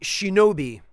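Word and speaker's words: 忍: charm is the Ki for ninja and it's pronounced Shinobi uh this is the kanji for protection it's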